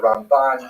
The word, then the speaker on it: Ramban: in particular as the Raman. There's an N at the end of his name for Rabbi Mosha Ben. Uh to distinguish him from Rabbi Mosha bin Ma. It's not only the uh the Ramban as opposed to the